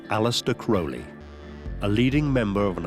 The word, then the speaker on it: Crowley: In his own writings, he said it's pronounced Crowley, it rhymes with holy.